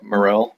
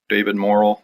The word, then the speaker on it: Morrell: It's called Creepers, and I'm not familiar with the author, but I want to say that's pronounced Morrell, David Morrell. Could be David Morrell or something like that, though.